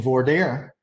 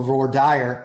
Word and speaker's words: voir dire: our first questions in voir dire or voir dire. I have found out very clearly that it depends on what part of the country you're in, which way that is pronounced.